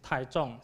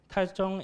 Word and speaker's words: Taichung: And the other one is Taichung. C-H-U-N-G, Zhong is the Chinese pronunciation of this word, this Chinese word, and this Chinese word means center.